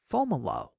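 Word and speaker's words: Fomalhaut: at the first magnitude star FAL hot which I've also heard pronounced as falo from there sweep 92°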